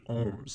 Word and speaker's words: ohm: The variable for resistance is capital R, and the unit is capital omega, which we pronounce as ohm.